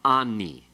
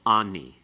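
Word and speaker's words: אָנִי: Therefore, it's going to be changed, and it's going to become ani. Okay? It's heightened to a comets in pause. It becomes ani.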